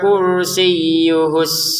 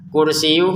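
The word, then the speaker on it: كرسيه: Wasia kursiyuhus samawati wal ard. Wasiah langsung ke kaf ya. Jangan wasiah kursi. Jangan kursiuh ynya ditekan kursiyuhu. Nah langsung ke sinnya ditekan lagi.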